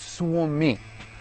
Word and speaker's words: Suomi: Having asked that earlier, he actually corrects my pronunciation of the word. He goes, Suomi. It's Suomi, which I thought was hilarious.